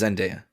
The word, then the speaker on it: Zendaya: Name pronunciation. We definitely have been saying Zendaya episode after episode. Yeah, it's Zendaya.